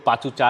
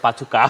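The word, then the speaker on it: Pachuca: অনেক জায়গায় অবশ্য কেউ পাচু চা লেখার চেষ্টা করছেন, পরে পাচু কা হবে। এটা হচ্ছে ব্যাপার, আমাদের ওসিডির একটা ব্যাপার থাকে নাম লেখার ক্ষেত্রে এবং উচ্চারণের ক্ষেত্রে।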